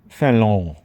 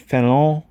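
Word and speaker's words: Fénelon: And one of his reviews happened to be of this book, Let Go by Fallon. I believe that's how you pronounce it. Fallon. It's French.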